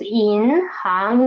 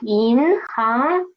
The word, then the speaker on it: 银行: 行, the second character, second syllable, is not rising up from here, right? Like this. It is rising up from here. So it is 银行, not 银行. It's not like that. It's 银行.